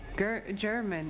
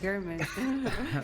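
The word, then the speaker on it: Gehrman: I'm so glad that Ash read that out because I would have said German instead of Gurman, and everyone would have laughed at me.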